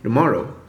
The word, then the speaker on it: tomorrow: For example, the word tomorrow, you hear native speakers say tomorrow, where the first syllable is reduced to a barely perceptible D plus schwa syllable, tomorrow.